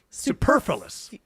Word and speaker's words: superfluous: Superfluous.